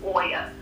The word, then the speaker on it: Oya: mad I was like say her name correct Oya and I could see